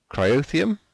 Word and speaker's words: cryotheum: So this area here, this is going to be for the cryotheum. That's how we pronounce it.